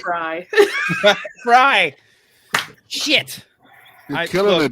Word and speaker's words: Frey: I'll do the jerk thing and say it's actually Fry.